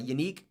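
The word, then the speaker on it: Yannick Ngakoue: Clark Taylor rap uh unique nangakue if you didn't know it's not Yannick it's Unique nangakue like unique that's how it's said if you don't know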